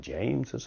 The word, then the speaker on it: James's: notice the pronunciation: James's house.